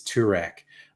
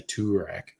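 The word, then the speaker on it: Toorak: joke around there that you call place track because it's turak or pran p-r-a-n because it's in paran um because that's just how locals pronounce things they didn't say turak the track and they didn't say pro-ran they say pran all right now i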